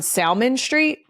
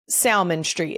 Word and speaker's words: Salmon Street: is on is on Salmon Street. S A L M O N as in the fish, but it is Salmon Street.